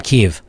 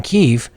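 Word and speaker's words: Kyiv: this girl does from Kiev they have say Kiev but they pronounce it Keefe in Keefe and when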